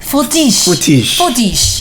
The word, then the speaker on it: Fortiche: Okay, but before I get into so the artwork, it was it's a studio from Paris called Fortiche. Yeah, you gotta say it more Frenchly. Fortiche.